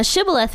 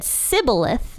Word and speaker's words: Shibboleth: said to him now say sh ith now shth means running water and apparently the ephraimites pronounced it differently they couldn't pronounce that word